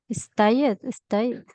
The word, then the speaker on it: stayed: Stayed. Yeah. Stayed. Otra vez. Solo pronunciamos la D. Stayed. La E no se pronuncia.